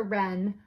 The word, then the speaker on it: wren: Roman numeral five how romantic W is for wren the wren wrapped the rabbits gift in red